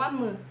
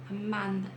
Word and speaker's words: Amanda: Então, eles pronunciam Amanda, amá, não amã, amá, Amanda.